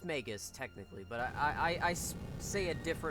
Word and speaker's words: Magus: __ ] slapped him I thought it was pronounced Magus it's megus it's megus technically but I I I I say it